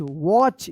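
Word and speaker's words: watch: ए टी सी एच वॉच यहां पर जो है ना टी साइलेंट है वॉच and another A एन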